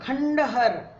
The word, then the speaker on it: खंडहर: देखो यहाँ पे जो अनुस्वार है न बोलता है, संत, क्योंकि आगे त था, त का पंचम वर्ण, पर ये खंडहर नहीं है, खंडहर है, इसको ऐसे लिखेंगे खंडहर। संत, मंथन, ये थ है,